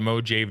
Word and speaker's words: Mojave: And this game also taught me how you pronounce Mojave, because you go to the Mojave Desert, which is right here.